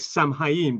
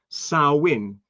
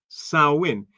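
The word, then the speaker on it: Samhain: It looks like Sam Hyen, but apparently it's pronounced Sawin. Sawin.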